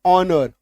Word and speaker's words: honor: में आप देखिएगा कि एच के बाद ओ आता है तो एच साइलेंट हो जाता है। बहुत कम शब्द है ऐसा, जैसे HOUR, आवर, HONOR, ऑनर, ऑ, एच है लेकिन इसका साउंड क्या आ रहा है, ऑ।